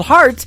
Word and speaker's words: Hart: good friend Robbie Hart it is HR t on her last name and that is called heart in two places yeah I just like